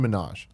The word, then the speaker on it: Minhaj: Hasan Minhaj. Hasan, not Nicki Minaj. Not Nicki Minaj. It's spelled very Is he differently.